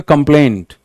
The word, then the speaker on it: complaint: He filed a complaint. He filed a complaint. Plaint, ये देखो वही AINT से एंड हो रहा है, यहां पे आपको जोर देना है।